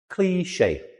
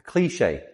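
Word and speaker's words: cliché: Cliche. Cliche. Two syllables.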